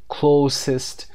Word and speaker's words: close: Number four, who in your family are you closest to? در خانوادتون به کی نزدیکتر هستید؟ Who in your family, در خانوادتون چه کسی هست که are you closest to. Close هم تلفظش میشه اینجا چون verb نیست.